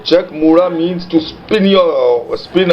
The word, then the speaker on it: Chak Muda: spins The Chariot around that's what Chuck mura means but it is pronounced now check mura means to spin your